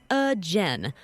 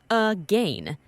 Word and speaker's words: again: Over time, the pronunciation changed to again or again, but the spelling became this, A-G-A-I-N, again.